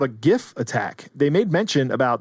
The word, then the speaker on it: gif: how to pronounce gif i'm going to pronounce it gif with heart g until the day i